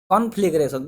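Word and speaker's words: conflagration: तो देखिए, कॉन्फ्लेग, यहाँ तक आप इसको याद रख दीजिए कि कॉन्फ्लेग फिर रेशन, ठीक है, कॉन्फ्लेग्रेशन, इस तरह आप इसको प्रोनाउंस कर सकते हैं इजीली।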